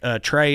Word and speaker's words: Trae: They would chant uh you know Trey is gay. My name rhymes with gay.